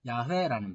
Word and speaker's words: 야훼: 그러면 이 여호와라는 말이 발음을 어떻게 하느냐 하면 아도나이라는 주라는 말의 아도나이라는 말의 모음을 딱 가져와 가지고 여호와라는 자음에 붙여버렸어요. 그래서 발음 나는 게 뭐냐? 야훼라는 발음이에요.